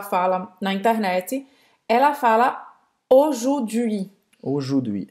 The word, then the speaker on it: aujourd'hui: Ela esqueceu essa letrinha aqui. Ela esqueceu de pronunciar o R. Então, como é que a gente vai pronunciar a palavra hoje em francês, Emila? Aujourd'hui. Aujourd'hui. Vou escrever aqui. Aujourd'hui. Ou seja, a U vai ter o som de O, aqui o OU vai